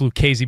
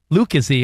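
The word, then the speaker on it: Lucchesi: It's pronounced Lucchese, by the way, Monsi. I heard you say Lucchese or Lucchese.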